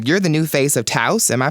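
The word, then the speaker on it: Tous: And another tidbit about what's going on with you, you're the new face of Taos. Am I pronouncing that right? Taos, yeah.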